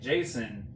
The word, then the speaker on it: Jacen: But Ben and Jason, which is spelled Jacen, Yeah.